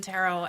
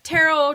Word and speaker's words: tarot: saying it right because I've heard it tarot tarot like I just want to make sure that I'm not slaughtering this beautiful word both those pronunciations are perfectly acceptable that's what I like